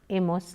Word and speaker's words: hemos: You remember very well that H is silent in Spanish. So, it is only he, has, ha, hemos, habéis, han.